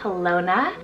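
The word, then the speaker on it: Halona: that one I also have helona spell h-a-l-o-n-a helona this one's a Native American name meaning happy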